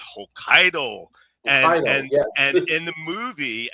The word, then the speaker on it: Hokkaido: It's not Hokkaidato, it's Hokkaido.